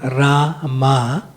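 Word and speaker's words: Rāma: on the first a ra means long a and ma means short short a so lord ramachandra's affectionate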